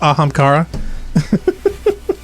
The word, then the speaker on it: Ahamkara: Funk says, it's pronounced Ahamkara.